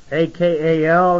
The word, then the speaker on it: akal: meat, or it could have been a call, A-K-A-L, and it's pronounced akal, meaning to burn up and etc.